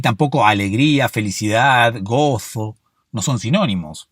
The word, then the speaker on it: Gozo: Oh, me pronuncio la Z, es increíble. Gozo. No todos pronuncian la Z, ¿eh?